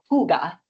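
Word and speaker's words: hygge: There is um anybody know how to pronounce that word? H y ge? I didn't know either. It's actually pronounced huga. It's a Danish word.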